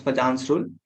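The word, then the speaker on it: Fajans' rule: It's pronounced as Fajan's rule.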